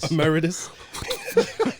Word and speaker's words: emeritus: How do you pronounce it again, Keith? Emeritus. Emeritus.